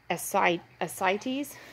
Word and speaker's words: ascites: heart failure that is also referred to as cites so that would probably be a more Veterinary